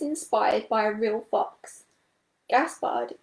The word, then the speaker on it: Gaspard: by a real fox gaspard is a french name and rhymes with renard the french word for fox here are some other